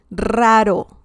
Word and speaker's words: raro: R's at the beginning, every R at the beginning of a word in Spanish has a very heavy R sound. So even if it's one R, you're going to have to pronounce it harder than the second R. So, for example, this means weird in Spanish, and you would say raro.